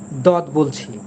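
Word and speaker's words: ضاد: ঠিক আছে, অর্থাৎ এটাকে জদ বলবেন আপনি, জ বলবেন, এটা হবে না।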